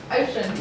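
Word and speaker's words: Ossian: Ocean. Yeah, it's spelled Osheen, so it's O-S-S-I-A-N.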